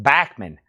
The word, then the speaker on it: Bachman: We call that Bachmann Turner Overdrive. His that last name is actually pronounced Bachmann.